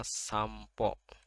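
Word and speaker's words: シャンプー: Anda di sini pol ini ada huruf p Jadi dibacanya shampo jadi dibaca m mati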